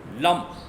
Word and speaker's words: लं: बिंदी ग जाति है तो ये शब्द बंता है लंब मैं का उच्चारण निकलता है ना ल ए एम इसका इंग्लिश में शब्द बंता है लम तो इसका उच्चारण जो